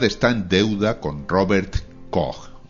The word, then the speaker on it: Koch: en deuda con Robert koch o koch como lo solemos pronunciar por aquí en España este médico alemán se